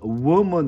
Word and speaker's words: woman: 그래서 당연히 워먼 그러니까 어떻게 보면은 워먼이라고 한글로 표기를 하는 게 오히려 맞는데 우리는 우먼이라고 표기를 하잖아. 워먼이 맞는데 하여간 W 발음은 워먼 이렇게 된다는 거지.